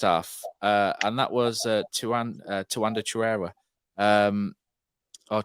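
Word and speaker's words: Chirewa: in that first half, and that was Tuanda Chirera, or Chirua, apparently, as it's now. I'm going to go with Oggy's pronunciation of Tuanda Chirua.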